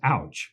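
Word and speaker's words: AUCH: and you work for we all refer to it in the industry is ouch yes right yeah but you got to spell it out yeah yeah well it's the association for Utah Community Health so if you look at it and say uch so we are alties we have an ouchie with us and a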